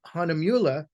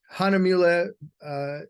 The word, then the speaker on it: Hahnemühle: And as an American, I'm not even really pronouncing it correctly either, because it's hard for us to get our tongues wrapped around U's with umlauts on them. Hahnemühle, you notice they have